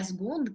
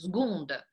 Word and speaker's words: seconde: И, кстати, обратите внимание на то, как это произносится. «Сгонда». «Le second». Там «г» даже какая-то, да? Не какая-то, а «г» почему-то звук. И «ø» не произносится. Ну, конечно, есть те, которые «second» говорят, но вообще «сгон».